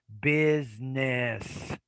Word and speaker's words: business: business business now it there is a z in there biz it's that that z is that first s biz business dip teeth packs choke